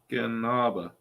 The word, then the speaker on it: Escanaba: on hang on hang on how do you spell it ESC A B A and A yes Escanaba Michigan you were close but not quite uh